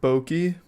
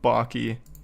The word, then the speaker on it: Baky: It's pronounced Bokei. Oh, whatever. I don't even like Five Nights at Freddy's, but maybe I'll fall in love with Baky.